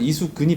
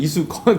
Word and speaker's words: 이수근: 근데 본인이 일부러 이수건이라고 만들려고 하는 게 아니라 사람들이 닮았다 하니까 아니 경상도 분들은 이수근이 발음이 안 될 거예요. 그래가지고 이수건 그래서 아니 그게 아니고 이수근 되는데 네, 사람들이 예, 수건이라 타울 수건이라 해서 그거 쓰면 좋겠다 해서 이수건.